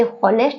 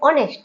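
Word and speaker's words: honest: यहां ये होनेस्ट नहीं है। यह ऑनेस्ट है। ऑनेस्ट आप कभी भी होनेस्ट मत बोलना।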